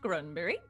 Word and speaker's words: Gronberg: name is Tilda Grunberg, spelled Gronberg, but it's apparently pronounced Grunberg.